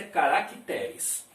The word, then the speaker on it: caracteres: acrescentando um ser aqui no meio portanto a pronúncia caracteres e a respeito da palavra catéter que todo